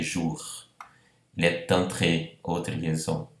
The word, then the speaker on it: jours: Veja, jour, eu pronuncio bem o R, não terminaria com les jours, não, les jours.